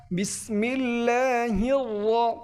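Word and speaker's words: بسم الله الرحمن الرحيم: উচ্চারণ আমরা পারি না এই রগুলো মূলত পুর হবে পুর একটু মোটা করে উচ্চারণ করতে হবে বিসমিল্লাহির বিসমিল্লাহির এরকমের আবার রহমানির এখানে এরকমের উচ্চারণ বিসমিল্লাহির রাহমানির রাহিম।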